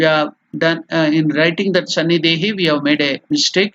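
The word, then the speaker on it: Sannidhehi: Sannidehi. Iha Sannidehi. So from the Sannidhapani mudra, we are telling the mantra Iha Sannidehi. Iha Sannidehi. We have done in writing that Sannidehi, we have made a mistake.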